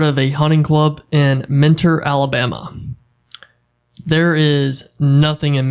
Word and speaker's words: Mentor: You gotta say it like mentor. Okay, mentor. Not like sensei, but mentor. Yeah, mentor, but everybody down there is mentor. Mentor. Get rid of the T. Mentor. Mentor. Mentor. Mentor. You ain't saying it right unless you say mentor.